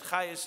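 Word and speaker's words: Chages: In the year 1995, into the Chabad house comes a woman whose name is Margaret Chayes, C-H-A-G-E-S, but Chayes is pronounced, some of you may know Maratz Chayes.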